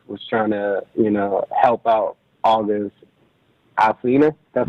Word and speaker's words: August Alsina: And during that break, she was trying to, Jada Pinkett Smith was trying to, help out August Alsina.